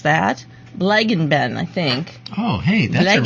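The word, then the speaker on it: Bleigießen: Blaggenben, I think. Oh, hey, that's a really good pronunciation. Blaggenben.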